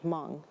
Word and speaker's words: Hmong: what that is language it's a silent H but it's because we have like a nasal it's like moans like if I slowed it down that's what it sounds like it's like I kind